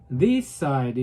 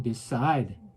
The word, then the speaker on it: decide: 결정한다 할 때 decide. 제가 이렇게 얘기하죠. decide 이렇게 안 하고 decide.